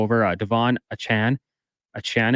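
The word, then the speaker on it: Achane: uh Devon a Chan a Chan is a pronunciation we're going with because he did correct the media yeah he said it's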